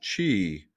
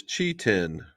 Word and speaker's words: QI10: I read that the QI in Chinese is pronounced chi, so it is Chi-10.